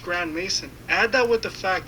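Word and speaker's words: Grandmaison: even his last name is suspicious as it's pronounced Grand Mason add that with the fact that his family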